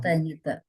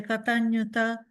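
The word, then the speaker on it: kataññutā: Excuse me, because I'm learning Sanskrit, the Katanyuta should have gone higher, longer.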